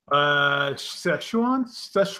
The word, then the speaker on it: Szechuan: For those of you that don't know, how do you pronounce that exactly? Szechuan.